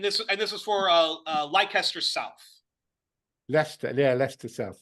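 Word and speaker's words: Leicester: actually had and this and this was for leester South leester yeah leester South yeah we pronounce a bit different strange English pronunciation the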